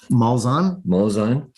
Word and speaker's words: Malzahn: Malzahn.